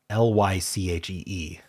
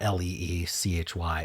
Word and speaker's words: lychee: Lychee, not Leechy.